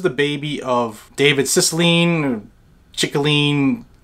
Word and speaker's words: Cicilline: baby of David Cicilline chicolini tyranny that's how you say his name he's a Democrat out